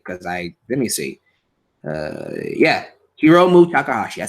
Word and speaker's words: Hiromu Takahashi: Was it Himuro Takahashi? I think I say his name right because let me see. Yeah, Hiromu Takahashi.